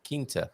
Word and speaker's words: quinta: Remember, quanto must sound quanto, and corum sounds corum, while quient sounds quent, and quinta sounds quinta. The U gets muted in these situations.